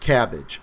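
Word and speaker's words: CABG: Dbakei performed the first cabbage, a coronary artery bypass grafting. That's how we pronounce it.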